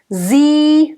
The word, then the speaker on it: Sie: Sie, nice closed E. Sie, and nice voiced S.